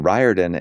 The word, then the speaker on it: Riordan: And I always laughed at like, you know, my last name we we pronounced it Riordan and there's um you